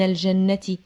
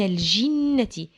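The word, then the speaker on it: الجِنَّة: الجنه والناس من الجن الجيم في كلمه الجنه مكسوره يبقى مش من الجنه لا من الجنتي هنتعرف دلوقت على بعض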